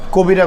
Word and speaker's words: কবিরা: গুনাহ কবিরা কবিরা এটা বাংলা শব্দ বা বাংলাতে উচ্চারণ কবিরা হয় আরবিতে এর উচ্চারণ হচ্ছে ক্যাবিয়াতুন এই শব্দের